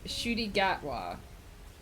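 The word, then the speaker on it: Ncuti Gatwa: pronounced shooty gatwa.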